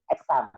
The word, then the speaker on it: XAMPP: Mungkin ada yang mungkin karena bahasa Inggris saya atau pengucapan saya salah, ini tulisannya XAMPP, exam.